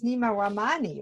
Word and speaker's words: Nima Rahmany: Now, your whole name is not really Nima, it's Nima Rahmany, right? Perfect pronunciation.